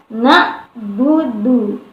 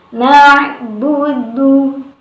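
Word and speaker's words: نعبد: Jadi tidak dibaca dengan na'budu, ya, tetapi na'budu.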